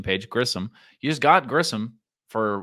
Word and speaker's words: Grissom: You just got Vaughn Grisham for Grissom. Check the pronunciation page. Grissom.